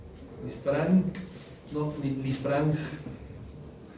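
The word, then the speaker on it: Lisfranc: No, Lisfrang y chopar.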